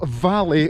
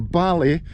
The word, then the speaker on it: Vallay: Right, so as Karen's saying, we're going over to the island of Vallay or Vallay, depending on your pronunciation, and it's only accessible when the tide's out.